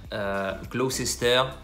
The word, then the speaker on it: Gloucester: bas vous l'aurez compris même principe gloucester gloucester on oublie la partie du milieu ouais pas de raison